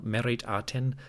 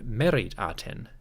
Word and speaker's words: Meritaten: Adapting that to the name Meritaten, we may have a pronunciation closer to Meriyati or simply Mayati. At the time that Akhenaten ruled, the Egyptian spoken language was showing a distinct shift in the pronunciation of certain sounds. The R sound was moving closer to an A or an I, and the T, as in merit, was beginning to drop off from certain words.